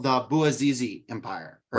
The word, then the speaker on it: Bouazizi: book, is called the Bouazizi Empire, or right. I believe it's pronounced Bouazizi, named after Mohammed Bouazizi, who is the man